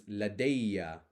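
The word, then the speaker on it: لَدَيَّ: to become a ya so Lada becomes ladeia I have and notice we've got the shaddha on top of this because the alif maksura has become a ya because we've added a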